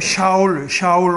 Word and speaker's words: 샤울: 상대적으로 좀 어지러운 시대가 끝나고 자리가 잡히는 것이 우리가 보통 사울 왕이라고 하는데, 이제 조금 원어에 가깝게 발음해 보자면 샤울 왕입니다.